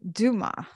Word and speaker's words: Dumas: Today, I am joined by the very accomplished Dumas. And did I pronounce your last name right? You did. It has its origins in the French language, so the S is silent.